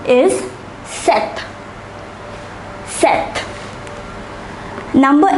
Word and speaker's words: sept: Number 7 is set, set.